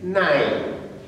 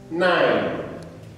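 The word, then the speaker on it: nein: is yeah and then the second one is nine nine can you say it say it loud nine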